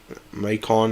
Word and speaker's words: Macon: Macon is how you say it.